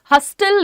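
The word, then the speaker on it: hustle: हसल लिखा है। पर हम बोल कैसे रहे हैं? हसल। हसल यहां पे टी साइलेंट है।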